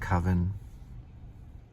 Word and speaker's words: Coven: It's supposed to be pronounced Coven.